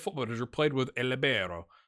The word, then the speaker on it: libero: Manager played with a libero. That's what it's called, right? Libero. You gotta say it like that. Libero.